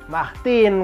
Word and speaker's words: Martin: samar-samar ga ini tadi Hong itu makanya jadi mahhtin karena hanya sama-sama jadi enggak mah Tine Vin